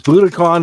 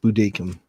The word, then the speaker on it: Budokan: Budokan is what we used to say, but I heard it's actually pronounced Budokan.